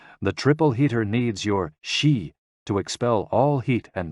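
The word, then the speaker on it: xi: associated with the spleen and X I pronounced like she which connects the whole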